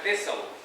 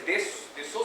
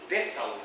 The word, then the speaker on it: Dessau: Y después del 25, porque la ultraderecha ganó muchos votos, tuvieron que irse a Dessau. No se dice Dessau, sino que Dessau. A-U en alemán es A-U, Dessau.